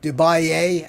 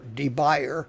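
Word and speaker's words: de Buyer: the bottom you get yourself a Dubai that's how it's pronounced or D buyer for those of you that are are not sophisticated and drink Sam Pellegrino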